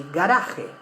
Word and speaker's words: garaje: keep our cars, yes, in Argentina we say garage. Yeah, we say guarda el auto en el garage. But in Spain they say garaje. So you can see that the same word, spelled the same way, is pronounced differently in one variety and the other one.